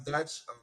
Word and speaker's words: Dyche: No, I mean I feel like it was a Sam Dyche. Am I saying it right? Sam Dyche, Dyke, right? yeah, Is it Dyche?